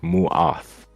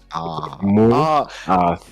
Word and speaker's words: Mu'ath: But yeah, just an FYI, it's Mu'ath with the T-A. Yeah, T-A. Mu'ath.